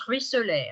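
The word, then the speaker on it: ruisselait: Terrible, ruisselet, donc je prononce ruisselet, hein, donc R-U-I-2-S-E-L-A-I-T, c'est comme il ruisselle avec deux L, E, comme tout à l'heure étincelle, hein, j'ai la même règle.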